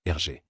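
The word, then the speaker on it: Hergé: l'a créé en utilisant ses initiales inversés g et R prononcé en français comme RG c'est une forme de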